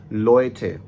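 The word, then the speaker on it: Leute: हम इसकी एग्जांपल देखते हैं, जैसे zum Beispiel लोएटे, लोएटे। अब देखिए एल है, एल के बाद ओए है, तो एल को ओए के साथ हम मिलाएंगे तो बनेगा लोए एंड देन आगे थे, लोएटे। और इसकी एक और एग्जांपल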